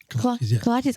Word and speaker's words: kolaches: But we're also, I forgot how to pronounce it. Kolaches? Did I say it right? Kolaches.